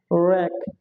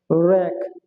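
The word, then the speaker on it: wreck: এরপরে কি আছে ডাব্লিউ আর ই সি কে, র্যাক, র্যাক, র্যাক, এখানে ডাব্লিউর কোনো উচ্চারণ নেই।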